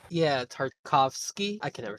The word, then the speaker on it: Tartakovsky: Genndy Get- Tartakov? Yeah, Tartakovsky.